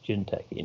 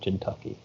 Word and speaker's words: Jinteki: It's Jinteki, not Jinteki. He was mispronouncing it.